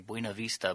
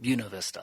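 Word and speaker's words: Buena Vista: it was college and some people will correct me and say buav Vista but actually everyone there calls it bunavista I'm going to say that that's probably how you say it D yeah wonderful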